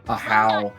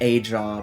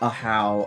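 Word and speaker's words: Ajaw: I just thought it was just Aja, but Ahow.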